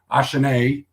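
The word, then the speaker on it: Achane: Jamal Williams and Devin ashanae uh French version of it here in around 12.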